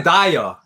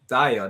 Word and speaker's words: Diyar: But that's how you pronounce, you can say Diyar. Diyar, that's what people do.